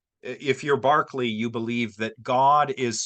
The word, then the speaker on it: Berkeley: philosopher called George George Barkley it's spelled Berkeley but it's pronounced Barkley um and he was